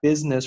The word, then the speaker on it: business: 是 business，这个 i 是不发音的。Which look at 连在一起，look at business regulations also showed that，我没有读成 showed that，showed 这个